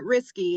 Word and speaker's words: Rieske: Sorry, it's Rieske is how it's pronounced, Rieske.